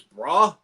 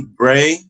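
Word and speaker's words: Brae: And then you can help me say I'm pronouncing this right. The other dude's name is Bra. B R A E. B R A E. Bray.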